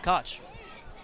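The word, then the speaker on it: Koch: all sorts of ways I actually know someone with the same spelling k o c h that pronounces it cotch pitch in there and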